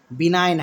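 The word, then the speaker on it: benign: क्या बोलते हैं साइन समझे तो यहां देखिए बिनाइन है क्या है जी साइलेंट है लेकिन हम याद कैसे रख रखेंगे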